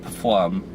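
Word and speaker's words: Pflumm: It's like p f l u m m flum but I think it's pronounced flum. Just, you know, say the P.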